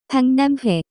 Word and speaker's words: 박람회: The pronunciation of this word is closer to 박람회.